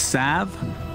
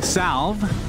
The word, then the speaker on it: salve: it called healing cell did you know it's sav does it have to be that that's the correct pronunciation if you say healing salve like me and cinderin you're pronouncing it wrong